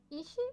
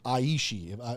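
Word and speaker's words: אישי: It's Aishi. I think I might have said Ishi. I think it's Aishi. I think it technically is Aishi. It starts with an aleph, and so it's Aishi, my husband.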